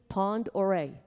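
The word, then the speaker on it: Pend Oreille: Orel it's um huh pardon how was it pronounced P pandere okay thank you Pond oh Pond okay P and D Pond oray thank you um it's the base and actually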